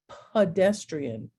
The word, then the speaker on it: pedestrian: happens when it becomes pedestrian okay now it's schwad the e is a sound pedestrian and in the word